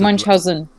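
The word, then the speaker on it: Münchhausen: Yeah, and we pronounce it Munchausen. We pronounce it the way it really is. Because obviously it's a German name, and so, yeah, duh.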